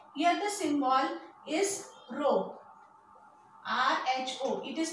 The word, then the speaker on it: rho: R-H-O. It is pronounced as rho.